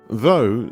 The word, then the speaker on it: though: Though sounds like dough.